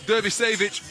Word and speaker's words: Dervisevic: But Dervisevic, excuse me, had a conversation with him about his preferred pronunciation this morning, and it's an ick rather than an itch on the end.